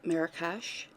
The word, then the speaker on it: Marrakesh: I am using the kit Marrakesh, which I totally googled how to say that, and I've been saying it right, thank God.